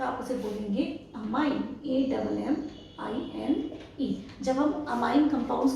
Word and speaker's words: ammine: लेकिन अगर अमोनिया bracket के अंदर है तो आप उसे बोलेंगे अमाइन, AMMINE। जब हम अमाइन कंपाउंड्स को पढ़ते हैं तो हम स्पेलिंग में क्या लिखते हैं?